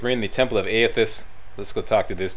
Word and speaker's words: Aethys: I learned how to pronounce this now. Aethys.